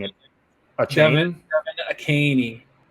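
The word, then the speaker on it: Achane: Devin Akaney. A caney. There's an H in there.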